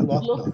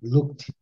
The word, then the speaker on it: looked: Não é locked, não. Os dois Os aqui. Looked.